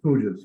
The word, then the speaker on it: puja: earlier, is you give ritual and you give puja. Is that how you say it? Yes, pujas, which is a Hindi word for prayer, but